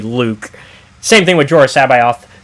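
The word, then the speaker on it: Luuke: Because it's still supposed to be Luke, but then it's Luke in the writing, but in the pronunciation, it's meant to still be Luke.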